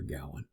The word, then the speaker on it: Gawain: Those pronunciations are interchangeable. From what I understand, I believe Gawain is correct, but with my American Southern English, I go with Gawain, the way it appears in modern English.